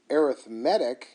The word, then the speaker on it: arithmetic: word arithmetic i do arithmetic is a noun arithmetic is what you say when it's used as an adjective as in i am